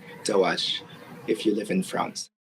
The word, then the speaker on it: DOAJ: Is it DOAJ or is it pronounced Doaj? So that's a good question. DOAJ and Doij is both good, but the French people prefer Doij, I think.